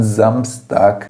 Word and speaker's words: Samstag: am, sempre aberto, e é importante salientar que as terminações em consoantes precisam ser relevantes, precisa aparecer. Samstag, am Samstag, percebe como as consoantes são pronunciadas?